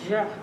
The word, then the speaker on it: Jean: His name must be pronounced Ja. In order to sound it right, you must glide it over the back teeth, then express it out of a half-open mouth.